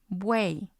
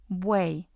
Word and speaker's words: buey: We have, for example, the word buey, buey, and it's actually just one syllable because the letter Y is treated like the I.